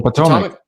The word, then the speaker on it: Potomac: The Potomac.